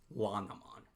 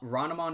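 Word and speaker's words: Renamon: that exact same reason I refuse to call this wanamon no uh-uh it's it's ronamon forever uh ranamon is what they called it in the dub it's what they called it in the Japanese version as well as the English version I don't understand why you would change it to lanamon that it does not work in my opinion it just does not sound right either uh moving on from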